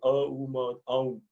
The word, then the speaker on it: Om: Just like Om is 3 syllables, aum.